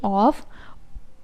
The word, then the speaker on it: of: Here as well, because ओ एफ को हम ऑफ नहीं कहते. ओ double एफ इज़ ऑफ, और ओ एफ यानी सिंगल एफ को हम पढ़ेंगे ऑफ. ओ के साथ वी की साउंड.